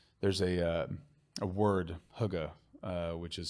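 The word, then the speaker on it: hygge: able to relax there's a uh a word Huga uh which is spelled h y g g uh that means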